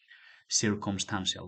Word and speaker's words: circumstantial: You know de turns to T, no, la T se convierte en la C se convierte en una T. Circumstantial, okay, you have to remember that it's with M.